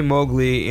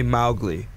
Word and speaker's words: Mowgli: say it well in in America we say Mowgli in the UK they say Mowgli we'd say Mowgli what's the meaning uh